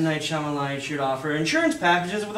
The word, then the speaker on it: Shyamalan: Night Shylamalan. Yes. but it's pronounced Shyamalan.